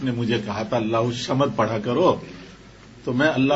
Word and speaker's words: الصمد: خیال آیا کہ صحیح لفظ تو ہے اللہ الصمد. یہ اللہ الصمد تو یہ لفظ تلفظ صحیح نہیں ہے.